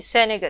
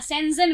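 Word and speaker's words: Schengen: हाँ, सेंजन वीजा, कुछ लोग सेनेगन बोलते हैं, कुछ उसका उच्चारण सेंजन करते हैं, राइट? तो दोनों ही राइट है अपने एरिया में, क्योंकि मैं कभी किसी को नहीं बोल सकती कि आपका उच्चारण गलत है, क्योंकि मुझे तो सिर्फ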